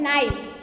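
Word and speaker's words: knife: दूसरा शब्द है नाइफ, इसमें के का उच्चारण नहीं किया गया है इसलिए ये इसमें के साइलेंट है।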